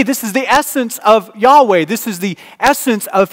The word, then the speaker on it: Yahweh: more accurate word about how do you even pronounce this in english you will see y h w h those four letters yahweh you will find it